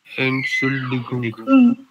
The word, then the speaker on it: Entschuldigung: School टिगुंग, Entschuldigung. Correct, and correct, and शुल्डिगुंग, like 3 parts में से पढ़ना, एंड शुल्डिगुंग, Entschuldigung. इसमें एस जेड नहीं प्रोनाउंस नहीं होगा, ठीक है ना, एंड शुल्डिगुंग, हाँ क्लियर।